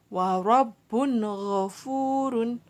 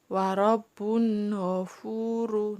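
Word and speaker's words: وَرَبٌّ غَفُورٌ: Huruf ghin adalah salah satu huruf idhar, maka harus dibaca dengan jelas. Tidak boleh dibaca samar. Warobun ghafuru. Nah, gitu tidak boleh.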